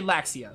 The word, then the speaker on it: Laxia: noble family of garments okay laxia like the word the ship i was